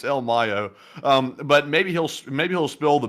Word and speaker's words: El Mayo: It's not El Mayo. We were saying the name wrong the whole time. It's El Mayo.